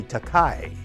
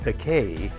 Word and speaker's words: Takei: keep calling me Takei. And I correct them by saying it's actually pronounced Takei, but I don't object to the mispronunciation, Takei, because that's a Japanese word that translates into English as expensive.